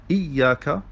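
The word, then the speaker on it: إِيَّاكَ: Iyaka, das ist die korrekte Aussprache mit einem doppelten Y in der Lautumschrift und mit einer Shadda im Arabischen.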